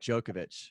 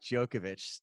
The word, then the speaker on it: Djokovic: this is we started out hot alright Novak Djokovic spelled Djokovic um J okay i yeah Yogesh wait it's a Novak Djokovic tennis player Djokovic spell it okay is it